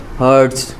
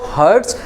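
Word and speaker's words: hertz: ठीक है, क्या प्रोनाउंस करेंगे, हर्ट्ज। ओके, क्या प्रोनाउंस करेंगे आप इसको, हर्ट्ज।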